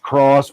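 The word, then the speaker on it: XROS: It's uh it's pronounced cross, but it looks like X Ross.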